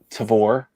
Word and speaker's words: Tavour: I've seen a lot on Tavour, rhymes with carnivore.